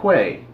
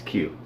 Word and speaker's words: queue: By the way, Darian, not Quay. Who pronounces it Quay? It's Q.